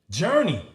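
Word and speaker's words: Jurnee: to ask you journey I thought your name was Journey like spelled like Journey take a journey across the street across the world but your name is spell is it spelled the same with the Facebook type it is not it's spelled j u r NE e e yeah J that's what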